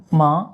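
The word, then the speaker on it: ماں: Ma, ma means mother. Ma, ma, not man, okay? But if you remove the N, it just become ma.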